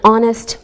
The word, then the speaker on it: honest: Same with an honest man. We don't pronounce the H.